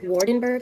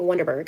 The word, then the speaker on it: Waardenburg: It's pronounced Waardenburg, I believe, Waardenburg, but I keep saying Wonderberg.